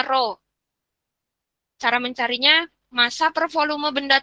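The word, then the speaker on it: ρ: mengukur massa jenis benda simbolnya mirip seperti huruf P dibacanya ro cara mencarinya masa performa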